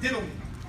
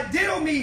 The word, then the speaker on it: didomi: Put is the Greek word didomi. Amen. Just spell it.